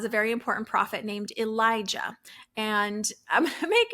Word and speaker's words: Elijah: of similar um so this prophet's name is Elijah with a J ah and I'll emphasize it